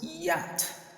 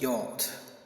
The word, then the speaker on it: yacht: While I've heard people saying it's not pronounced as yacht, but it's yacht, I want to make something very clear here. The two pronunciations are correct, and I will explain to you.